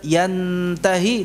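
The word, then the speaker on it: ينته: dengan ikhfa di sini ketika bertemu dengan ta itu tidak menempel yantahi, tidak. Itu akan menjadi hukumnya berubah menjadi izhar. Yan hanya saja disertai dengan gunnah. Yantahi tidak. Yantahi. Jadi ujung lidahnya tidak sampai menempel yan, tetapi apa? Ya, yantah. Posisi mulutnya pada makhraj huruf ta.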